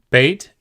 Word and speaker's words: Beit: Beit can either be pronounced B, as in boy, or V, as in van, and we'll see the circumstances under which they are pronounced each way momentarily.